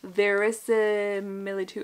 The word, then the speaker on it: verisimilitude: Crafted with sterling clarity and intelligence, V for Vendetta brings an unequaled depth of characterization and verisimilitude.